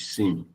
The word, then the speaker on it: SIEM: Yeah, I said the way we pronounce it is sim.